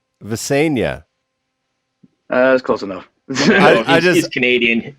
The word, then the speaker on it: Visenya: Can you give us the pronunciation of that name? Is it Visenya? Visenya, correct.